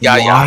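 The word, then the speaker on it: Yahya: We got Yaya. Apparently, that's not how you say it, Bobby. It's not. It's YA. Yeah, it's YA.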